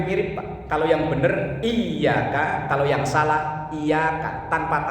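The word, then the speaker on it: إِيَّاكَ: ada bacaan iyaka nabudu di situ ynya wajib bertasdid iyaka bacanya ditekan Kalau ditulis Translate Indonesia latin biasanya y-nya dua iyaka itu yang benar artinya hanya kepada engkau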